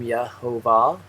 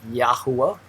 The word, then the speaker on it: Yahuwah: here you have yahoo he does pronounce the name yahovah i pronounce it yahuwah and i have not